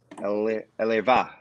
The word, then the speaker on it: Elva: Eleva is how you say it.